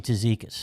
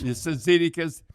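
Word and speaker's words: Cizikas: A few guys, Cecily, that guy from, how do you pronounce that guy's name from? Casey Tzidkikas. Tzidkikas.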